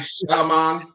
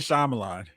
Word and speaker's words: Shyamalan: Night Shyamalan. M. Night Shyamalan.